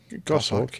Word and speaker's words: Goshawk: Is that the way you pronounce that? Goshawk? Goshawk, yes.